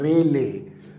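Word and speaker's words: Rayleigh: एक श्रीमान जी थे, एक बड़े फेमस साइंटिस्ट थे जिनका नाम था रेले। ठीक है, RELIEGH, रेले। रेले, ए स्पेलिंग गड़बड़ हो गई, RA है, RA।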